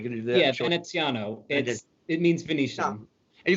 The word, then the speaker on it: Veneziano: If you want to be really Italian, it's Veneziano. But I just say Veneziano. Veneziano, or it could be if you're like going to do that. Yeah, Veneziano.